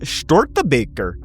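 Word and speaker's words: Störtebeker: So this year, they've done a collaboration with Stortebeker. which is another, that's how you say it, man. That's how you say it. That's like nearly 100% perfect German pronunciation.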